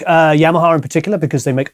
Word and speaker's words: Yamaha: level affordable boutique guitar now you say yamaha or yamaha i see yamaha okay how do you say it yamaha yamaha yamaha sounds the same to me it's the accent i'm sure it is so we